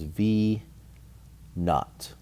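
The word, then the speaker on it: v₀: problem when you see v sub zero that means that's always going to be pronounced as v naught v naught and what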